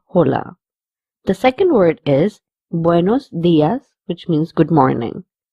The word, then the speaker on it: buenos: The first word has to be pronounced very nicely and with a round mouth, buenos, instead of saying buenos. So the whole word is pronounced as buenos días.